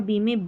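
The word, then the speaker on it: bomb: उच्चारण ब होता है, नहीं, बी यहाँ पर साइलेंट है, एम और बी में बी साइलेंट है, सिर्फ एम का ही उच्चारण हो रहा है, वो भी म। तो लैम, बॉम, थम, कॉम, तो यहाँ पर बी को भूल जाए, बी का उच्चारण नहीं करना है।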